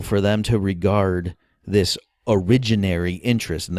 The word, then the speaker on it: originary: So in the Austrian tradition, incidentally, it's typical for them to regard this originary interest, and that's spelled like origin, A-R-Y at the end.